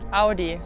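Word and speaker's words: Audi: से कि German brands को एक जर्मन कैसे प्रोनाउंस करेगा। सो हाउ वुड यू से BMW BMW ऑडी ऑडी Nivea Nivea DHL DHL एडिडास एडिडास Puma Puma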